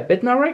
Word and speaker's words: Bednarek: here we go bednarik oh bed yeah bitten narrower yeah that's how you say it defensive rock for southampton